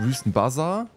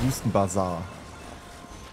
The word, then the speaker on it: Wüstenbasar: auf in Richtung wüstenbazer also nicht wüstenbazar zum draufhauen sondern wüstenbasar eine Aussprache ist halt ein